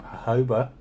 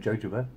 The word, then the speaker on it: jojoba: five percent do you need to get some Hoeber i always actually how it's pronounced i say in jojoba but apparently seroma but then again it's got